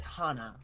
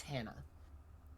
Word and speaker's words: Hannah: Vera doesn't know why she pronounced it Hana but it's Hannah um Han you must